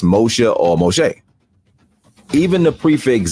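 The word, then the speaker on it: משה: uh modern Hebrew which is Moshe in Hebrew pronounced Moshe or Moshe even the prefix zah from the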